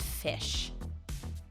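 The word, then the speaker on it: ghoti: english spelling and pronunciation so that technically this word can be read as fish if you go through all of the broken parts of english that like don't make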